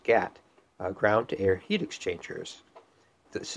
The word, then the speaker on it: GAHT: These are often referred to as GHX or GHT pronounced GAT uh groundto-air heat exchangers.